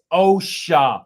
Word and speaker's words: OSHA: It's OSHA, rust the sus. OSHA.